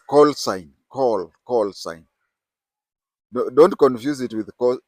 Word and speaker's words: call sign: we have something that is called coal sign call sign don't confuse it with co okay people pronounce it as cosine like uh you remember in maths we used